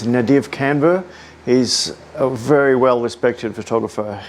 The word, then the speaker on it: Nadav Kander: I've copied this technique from uh a photographer that has had a lot of influence on me, and I believe his pronunciation is Nadav Kander.